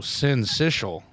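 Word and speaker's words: syncytial: Oh, sensitial sens. I wouldn't have had that on my freaking bingo card. Yeah. S I N S I S H U L is how the pronunciation is. Sensitial.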